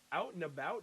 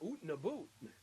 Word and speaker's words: out and about: Number 14, out and about, not oot and a boot. Number 15, Zed, because you pronounce Z correctly.